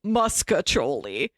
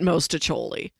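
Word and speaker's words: mostaccioli: I've always heard it pronounced muscatoli. Maybe because the name means little mustaches in Italian, at least according to the AI overview. I swear... Muscatoli. Nobody pronounces it mostacholi.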